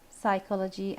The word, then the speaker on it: psychology: apology the correct answer a psychology and the silent letter in this word is the consonant P yes that's right now